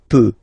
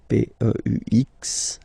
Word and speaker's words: peux: Okay, P-E-U-X. Okay, you don't pronounce the final X.